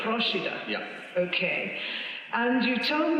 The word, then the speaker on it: Procida: one in the Bay of Naples, which is pronounced Procida. Procida.